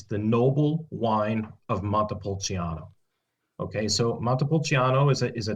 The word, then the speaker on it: Montepulciano: Yep, Vino Nobile di Montepulciano.